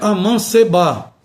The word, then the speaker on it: amancebar: Observe que os verbos devem ser pronunciados assim, não é enceba, como a gente fala, o certo é enceb, ou seja, o e permanece com o timbre fechado.